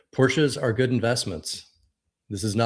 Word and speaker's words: Porsche: Most people say yeah, Porsche, but yeah. having Porsche. come from a very German family, yes, you got to pronounce the E on the end.